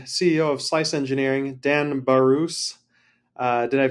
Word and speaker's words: Barousse: I'm interviewing the CEO of slice engineering Dan barus uh did I pronounce that right you did yeah you actually